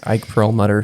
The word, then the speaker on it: Perlmutter: Now, Marvel Entertainment CEO, I'm probably going to butcher this name, Ike Perlmutter, is that how you say it? Yes, Ike Perlmutter, who is a very controversial figure.